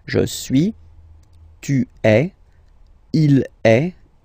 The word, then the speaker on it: est: the verb, so il est, or then elle est, so you can notice that even if we write them differently, this est like that and est like that, we pronounce them the same way, and that's usually the